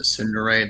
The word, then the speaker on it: tsundere: Yeah, that guy earlier in the chat, he called you a tsundere.